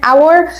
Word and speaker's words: hour: وقلنا قال قبل اول علشان اوراور بننطق اللي هو حرف الاو على طول فبالتالي بنقول تعالوا ناخد